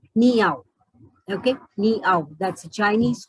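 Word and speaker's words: 你好: Though it is written as you can see on the screen, Ning Hao, but it is pronounced as Niao.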